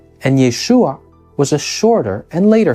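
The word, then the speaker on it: ישוע: an ancient Hebrew speaker these were really just two different versions of the same name yahushua was the more original and longer form of the name and Yeshua was a shorter and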